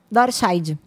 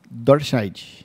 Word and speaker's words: Dorscheid: Então, na verdade, assim, é muito fácil pronunciar, o difícil é escrever. Dorscheid. Dorscheid.